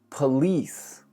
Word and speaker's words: police: Next, police. Police. Think of it like P-U-H-L-E-E-S-E. Police. Of course, the second syllable is what gets a majority of the stress.